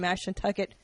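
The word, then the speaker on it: Mashantucket: And then um January 31st through February 2nd, comics at Foxwoods Comedy Club and Bar in Mash Nucket, Connecticut. I'm supposed to say it like that.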